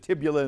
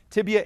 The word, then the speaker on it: tibia: lot of people don't they confuse it tibula and fibula no tibia and fibula you got them both nicely done rid invisible Let's Get Physical for 25.